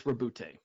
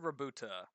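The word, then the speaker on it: Roboute: It's Rabute. Rabute. I always said Rabuta. I used to just say Robert.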